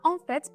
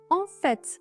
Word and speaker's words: en fait: Türkçeye Aslında şeklinde çevirdik Bu arada telaffuz konusunda da bir uyarı yapmak istiyorum Çünkü bazen onf şeklinde söylendiğini de Duyabiliyor öğrencilerden Ama mutlaka sondaki t'yi telaffuz ediyoruz on fet şeklinde söylüyoruz an derken de orada bir Nazal sesimiz var Ona da dikkat edelim an veya n demiyoruz kesinlikle diyoruz on fet Şimdi de ofet bir